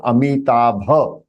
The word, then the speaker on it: अमिताभः: That is the right pronunciation, Amitabha. So in Sanskrit it is ba. So visarg, you have to make the sound of the visarg.